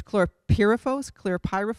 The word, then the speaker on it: chlorpyrifos: new insecticide that I don't know how to pronounce yet. It's not new. It's chlorpyrifos.